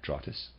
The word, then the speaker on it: Drottes: that spelled d ro TT es i am pronouncing that draw 'this and the readers decide druids equals oak for this reason the Germanic peoples were said to receive their instructions beneath oak trees draw TISS or druids were ancient germanic initiates they still